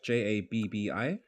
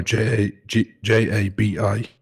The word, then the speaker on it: Jabi: So that's Jabbi or what? No, Jabi.